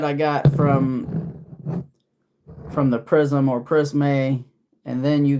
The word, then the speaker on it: Prisme: So, this is the imperial obviously from the prism or prisme, but it's spelled with an e, so I'm just going to say prisme, but it's shaped like a prism, I guess.